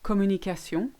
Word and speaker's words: communication: So when you say communication in English, you stress the A. In French, you won't put any stress on any part of the word. You just say communication becomes communication. Electricity becomes électricité.